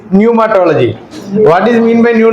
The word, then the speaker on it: pneumatology: तो आता है न्यूमेटोलॉजी में पी का आवाज आता है हमको सुनाई नहीं देता we can't hear the P sound there but इट इज न्यूमेटोलॉजी what is mean by